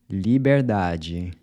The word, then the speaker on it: liberdade: Liberdade. So the “d-e” sounds like the “j” in “judge”.